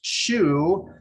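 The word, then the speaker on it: Xu: about management at all stella last name pronounced shoe uh that's her uh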